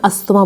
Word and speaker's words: asthma: है वो है ब्रोंकल एस्मा या फिर अस्थमा। अगर आपको अपना प्रोनाउंसिएशन काफ़ी अच्छा करना है तो आप उसको एस्मा पढ़ सकते हो, बट इसको हम कॉमन लैंग्वेज में अस्थमा बोलते हैं।